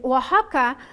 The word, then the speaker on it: Oaxaca: um you know know it these days and Waka it's also the name of the state but